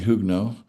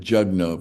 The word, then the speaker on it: Jugno: She goes by here, Nancy Hugno. Or you might pronounce that Jugno if you're reading it in the English way, but it's Nancy Jugno.